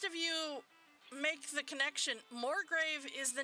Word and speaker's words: Morgrave: this is the word morgrave everybody roll me a history check please okay huh m-o-r-g-r-a-v-e oh wow actually how it sounds right I mean they